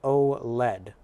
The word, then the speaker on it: OLED: And is pronounced OLED.